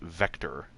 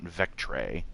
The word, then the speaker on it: Vectre: not sure the emperor i believe that's supposed to be pronounced vector not vectre as some people unpronounce it it's supposed to